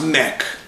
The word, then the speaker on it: Mech: I guess it's pronounced Mech. M-E-C-H.